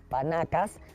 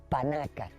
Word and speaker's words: panaca: Según me han dicho, no se dice 16 panacas, sino 16 panacas.